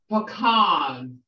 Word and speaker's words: pecan: Pecan. Somebody got a question? Pecan or pecan. It depends on where you're from, how you pronounce it.